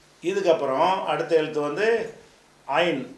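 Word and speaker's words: عين: அடித்தொண்டில இருந்து படிக்கணும். ஐன் கைய வச்சு இந்த அடி தொண்டை தொண்டை குளியில அழுத்தினா அது சவுண்ட் வந்துடும். ஐன் ஐன்.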